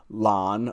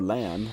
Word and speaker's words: Lan: He's answering a question about what it was like, I think, to embody the role of Lon or Lan, depending on how you say it.